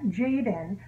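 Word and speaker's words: Jayden: I'm supposed to tell you that you pronounce it it's spelled J-A-Y-D-E-N. Jaden. It's not spelled that way, but that's how you'd say it.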